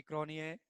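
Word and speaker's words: Cronje: ऐसे बहुत सारे नेम होते हैं जहां पे हम लोग को साइलेंट रहता है, लाइक निक्की बोए, हैंसी क्रॉनिए, उसमें जे वगैरह रहता है, साइलेंट रहता था।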